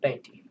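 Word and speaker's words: veinte: If a V starts a word, then it sounds like a B.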